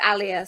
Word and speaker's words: Alia: It's Alia, so like Malia without the M.